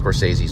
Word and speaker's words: Scorsese: was talking about him I mispronounced scorsese's name I don't remember how I mispronounced it um and he he he told me it was Scorsese and I said oh okay Scorsese so he was already